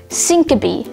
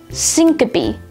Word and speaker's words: syncope: n-i-t-i-d knitted today's word of the day is syncope spelled s-y-n-c-o-p-e syncope syncope has one alternate pronunciation syncope syncope is a noun that derives